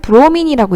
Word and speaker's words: 브로민: BR은 브로민이라고 읽고요.